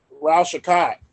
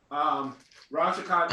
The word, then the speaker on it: Ral Shakat: Ral Shakat. Lord Ral Sauerkraut. Shakat. Okay. 1 EP. Say How you spell less. that? How you spell that? Ral, it's RAL, and then Shakat is SHEKAT. Ral Shakat is taking the other